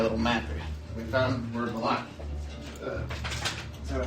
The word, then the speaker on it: Vallaki: So looking at the map, looking at my little map, we found where Vallaki. Is that how you pronounce it, Vallaki?